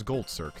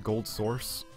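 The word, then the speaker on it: GoldSrc: That's Gold Circ. This is Doom. Okay, I know the Half-Life 1 engine is supposed to be pronounced as Gold Source, but it's Gold SRC. I always say Gold Circ.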